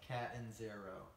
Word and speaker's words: Catanzaro: Catanzaro.